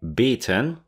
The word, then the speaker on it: beaten: to napaść napadnięty i beaten beaten pobity i chciałbym zwrócić waszą uwagę na wymowę dwóch słówek ugryziony i pobity ugryziony krótkie i bitten i pobity długie i baten ktoś ma atak padaczki